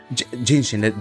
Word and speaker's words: Jinhsi: Jing Chang Ching Chung something Jianxin. So Jinhsi. yeah, Jinshin.